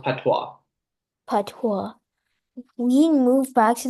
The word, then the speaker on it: patois: It's pronounced patois.